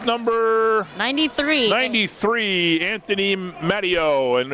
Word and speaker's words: Matteo: And now we got, what'd you say, Matteo, is how you pronounce it?